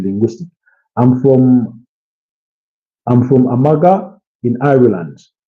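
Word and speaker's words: Armagh: love to be linguistic I'm from I'm from Amaga in Ireland. It's pronounced uh Amma.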